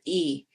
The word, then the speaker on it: yi: There's something in a Chinese philosophy called your yi, and it's spelled Y-I.